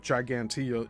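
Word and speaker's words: Ġgantija: Even more interesting is the possibility that the Gigantia on Malta, and Gigantia is spelled Gigantija.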